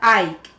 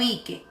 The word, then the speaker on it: Ike: Porque sí, y el nombre del presidente se pronuncia Ike, no Ike.